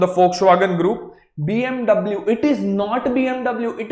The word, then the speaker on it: BMW: All right, that is why it is BMW, but the actual pronunciation is BMW.